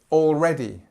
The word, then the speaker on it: already: again okay already already so already has this or sound it's like a long or all it's the same as all like you know all my all my wonderful things for example already so this is where you put the stress on the second syllable and it's this e sound okay and just I